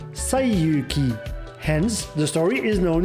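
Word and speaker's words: 西遊記: In Japanese, these same characters are pronounced Saiyuki.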